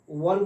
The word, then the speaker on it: one: वन देखिए ONE, लिखते हैं ONE, इसको ओन नहीं पढ़ेंगे, वन पढ़ेंगे।